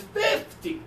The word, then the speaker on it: fifty: I wish we did this one is fifty with the strong first syllable okay fifty okay everybody